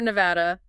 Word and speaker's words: Nevada: And if you're heading out west, remember Nevada, stress is on the second syllable with a short A sound, like an apple. Nevada, not Nevada.